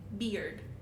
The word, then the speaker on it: beard: Because we have the vowel sound from beer, right? Beard. Beer, E, but then we have the D sound of bird.